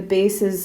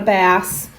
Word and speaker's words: bass: not spelled like the bases of a baseball field it's spelled like that and it's not a fish it's not a bass it's a base and bass clef bass